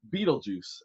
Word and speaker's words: Betelgeuse: 642 light years away, everybody, is another fabulous place called my favorite, Betelgeuse. Betelgeuse. It's not spelled Beetlejuice, but it's pronounced Betelgeuse, and this is crazy.